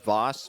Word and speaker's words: vase: Got a bone from this little vase over here. Voss vase. What? However you want to pronounce that. There's Two correct ways to do that one.